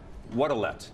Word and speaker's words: Wodelet: And, Wodelet. You bet.